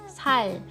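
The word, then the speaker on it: 살: mana di bawah kan Nah ini bacanya l ya jangan R jangan Sar tapi sal sal oke lalu kalau dia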